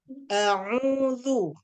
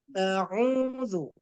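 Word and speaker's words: أعوذ: A'udzu. Tidak boleh berdesir zalnya ya. A'udzu.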